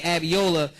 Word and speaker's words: Abiola: and say this because I did mispronounce his brother's name, Brother Kwame Abiola, who's a good friend of mine. You know what I'm saying? The money was coming in so huh? Abio me. Oh, I always said that wrong then. I always said Abby.